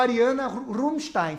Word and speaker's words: Ariana Rumstain: Eu estou aqui hoje com a Ariana Rumstein. Falei corretamente a pronúncia do seu nome?